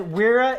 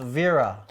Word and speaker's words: Wera: then Chris Ryan says weira is pronounced Vera could be with the V yeah oh interesting which